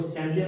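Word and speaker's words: chandelier: अपने शब्द का था CHANDELIA, इसको सैंडलियर पढ़ा था। अपने हिसाब से इसको क्या पढ़ते थे? CHN को चे पढ़ लेते हैं।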